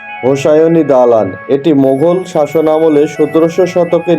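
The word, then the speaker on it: হোসায়নি দালান: শিয়া উপসনালয় এবং কবরস্থান বিকল্প উচ্চারণ হলো হুসনি দালান এবং ইমারতের গায়ে শিলালিপিতে ফার্সি ভাষায় লিখিত কবিতা অনুসারে উচ্চারণ হোসাইনী দালান এটি মোঘল শাসনামলে 1700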